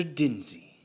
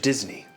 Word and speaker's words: Disney: Denzy. No, Mr. Disney, if you're going to say it, say it right.